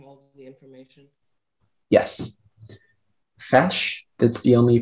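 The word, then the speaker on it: feis: all right speller 82 your word is fash can you repeat the word can i have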